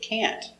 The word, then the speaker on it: can't: And the pronunciation of the negative can't. I can't go. I can't do it. It's stressed. So, the negative is the important word. We pronounce it with the a sound. I can't go. I can't do it. And the t. The t is a stop t. So you don't hear t.